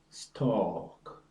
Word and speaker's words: stalk: is an interesting one a as in talk walk stalk the L is not pronounced talk walk and talk